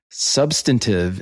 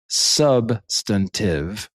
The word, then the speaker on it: substantive: Substantive is pronounced substantive with the emphasis on the sub rather than the stun.